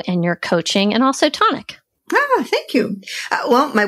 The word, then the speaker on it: Tonique: And then, Tonic is Tonic Mobile Bar, but it's spelled T-O-N-I-Q-U-E. Some people call it Tonique. I'm from Maine, so I call it Tonic.